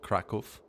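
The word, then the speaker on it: Kraków: So Hungary has decided to attack Krakow, rather. That's how you pronounce it, Krakow.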